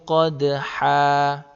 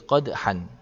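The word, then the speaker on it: قدحا: Contoh kedua, fal muriyati qadhan. Kalau dibaca waqaf seperti ini, maka cara bacanya fal muriyati qadha. Tidak boleh qadhan.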